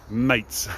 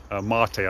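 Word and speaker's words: Maté: uh doctor g something mates or mate rather um marty i think is probably actually how you pronounce it very good top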